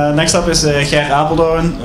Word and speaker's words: Gerrit Apeldoorn: Next up is Gerrit Apeldoorn. I have a soft G as well, so probably not even the best.